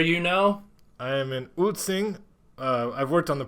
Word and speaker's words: Ulcinj: Taipei where are you now I am in utsing I've worked on the pronunciation of that it's spelled ulcinj and uh